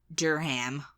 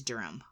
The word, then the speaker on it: Durham: d r h a i would say Durham though Durham Durham Durham Durham uh but it's durum darham yeah yeah uh the